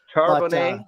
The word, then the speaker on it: Charbonnet: Charbonnet, that's how I was getting ready to say that, and I would have said it wrong. So I'm glad you did. That's how I would say it. It looks French to me.